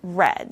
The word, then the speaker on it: read: then the participle is red so remember the pronunciation is different the verb is to read but the participle is red okay and the last